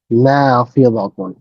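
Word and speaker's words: نافذة: তিলকা নাফিযাতুন। না এর পরে একটা ছোট্ট টান হবে।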